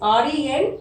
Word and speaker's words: Rendezvous: Observe the spelling, children. Here it is Rendezvous. It should be pronounced like Rendezvous with Ray. Okay, before going to start